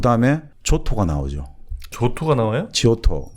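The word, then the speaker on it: Giotto: 지오토, 예, 그 데카메론 나오는 지오토, 네. 조토. 지오토. 예. 근데 쪽 현지 발음은 조토입니다. 조또.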